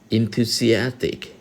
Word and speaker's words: enthusiastic: ว่า N นะ ฮะ E ตัว นี้ ออก เสียง กลาย เป็น ออก เสียง in นะ ครับ enthusiastic นะ ครับ คำ นี้